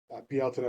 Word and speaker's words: Bealtaine: Just last Beeltena, we uh, I Which is more commonly recognized as Beltane. Bealtaine would be the more traditional and old Irish pronunciation.